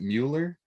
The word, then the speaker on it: Mueller: to welcome miller i use the german pronunciation miller i think in english it's muller how do you pronounce it yeah we pronounce it mueller but you're pronouncing it correctly and uh